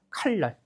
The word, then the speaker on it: 칼날: 봤을 때 리을 뒤에 니은 왔을 때 유음화돼서 어떻게 발음돼요? 칼날.